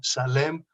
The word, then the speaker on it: Salem: Más hay unos cuantos nombres que en hebreo se escriben con shin, más en español se pronuncian con es como salem o saltiel.